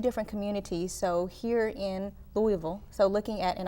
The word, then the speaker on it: Louisville: So here in Louisville, so looking at, and I'm working on pronouncing Louisville, not Louisville. Louisville.